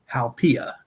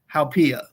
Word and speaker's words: haupia: one is Hawaii's dessert, and it is called haupia.